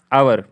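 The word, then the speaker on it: hour: है, ओ से पहले अगर आ जाए तो साइलेंट होता है, बहुत सिंपल है यार। जैसे आवर, owner owner owner owner, owner पढ़ रहे हैं, ना कि हम इसे होनर पढ़ रहे हैं।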